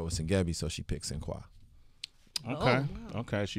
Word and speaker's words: Sinqua: Cinqua Walls. What does Cinqua mean? Yes. So Cinqua is the French pronunciation of the African name Sengebi.